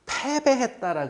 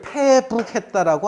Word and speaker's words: 패배했다: 우리 전쟁에서 지면은 전쟁에 져서 패배했다라 그러잖아요. 그럼 패배할 때 어떻게 적느냐면 이렇게 적어요. 전쟁에 진 거를. 그래 패할 패자에 등질배 달아날 배라고 읽어야 돼요. 이거를 북이라 패북했다라고 안 해요. 패배했다 그래요.